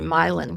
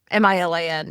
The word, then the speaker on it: Milan: If it was in New York, it would be Milan, because that's how you pronounce Milan, Milan in New York State.